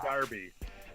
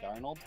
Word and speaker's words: Darnold: I said Sam Darby. Sam Darby for Heisman. Sam Darnold?